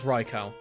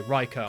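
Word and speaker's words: Raikou: So, yep, I know for a fact that is Reicho. And that is how you say his name, by the way. Reicho.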